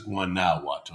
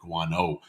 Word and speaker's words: Guanajuato: Yeah, but I think it's Guanajuato, not Guano, because that would be like guano is bat poop. Guanajuato. And I'm pretty sure it's not the bat poop town.